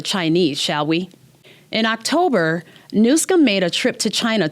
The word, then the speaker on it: Newsom: when I thought I was done with Gavin newsam and just for the record the name is pronounced nusum let's have some respect now let's talk about this friendship with the Chinese shall we in October nsum made a trip to China to promote climate